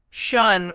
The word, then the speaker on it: affection: It's pronounced affection with the stress on the second syllable.